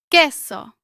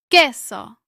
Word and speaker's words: Queso: Queso. Remember that the U is silent. Your turn. Queso.